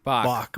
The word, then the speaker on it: Bach: Where like, in Spy Who Loved Me, when Barbara Bach, is it Bach or Batch? I don't know how to pronounce it. Bach. Bach, yeah. Barbara Bach.